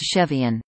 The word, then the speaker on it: Cevian: CEVA is pronounced Chaeva, Cevian is pronounced Chevian.